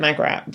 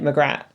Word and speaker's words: Magrat: And speaking of names that's the other one cuz I said Magrat but they're like Magrat. Yeah. But again, it's just it's just different like emphasis on the on the syllables.